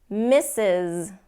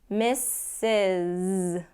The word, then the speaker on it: Mrs.: few more because because mrs. so that first s in the pronunciation the first s gets the S sound the last s it gets the Z mrs.